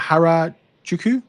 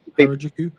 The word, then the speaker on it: Harajuku: Um I can't how do you pronounce that? Harajuku. Harajuku.